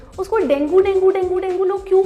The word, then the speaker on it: dengue: इट was never डेंगू। The right way of saying it is dinghy. Dinghy is the correct pronunciation. किसी को dinghy हुआ है, लेकिन मैं कितनी बार भी बोलूँ ना उसे डेंगी हुआ है, चार और बोलते उसे डेंगू हुआ है। डेंगू गलत है, डेंगी सही है।